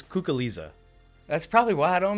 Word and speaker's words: Cuculiza: know your last name is it's well it's kook Alisa that's probably why I don't know it yeah most people don't even try to pronounce it I honestly don't know that I